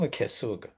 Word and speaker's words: K8SUG: Still pronunciation is the same, Kesug.